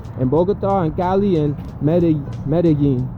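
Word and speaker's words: Medellín: Bogota and Cali and Medellin, or Medellin, if you spell it and pronounce it in an English way.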